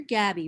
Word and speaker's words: Gaby: And I pronounce it rhymes with baby. It's pronounced Gaby.